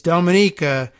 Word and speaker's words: Dominica: can think of is it's Dominica you crazy freaka cause nothing rhymes with